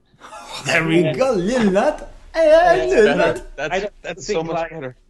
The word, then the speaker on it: Lumat: Let's hear it, because this is the definitive pronunciation. How do you say it? Well, in Swedish I say Lumat. There we go, Lumat.